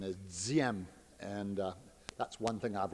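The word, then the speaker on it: Diệm: His name was Diem. Fancy pronunciation is Diem, and that's one thing I've learned being against the war in Vietnam for 5 years, is how to say Diem.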